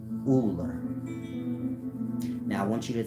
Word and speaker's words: Ullr: Meaning, I say it's pronounced that way, you look it up, it's going to say Uller.